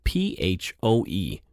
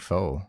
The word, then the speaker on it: Phoe: And this one is spelled Phoe. So is it Foe or Foe? It's not pho. I would think faux. Faux, okay. Faux from Edmonton, Alberta.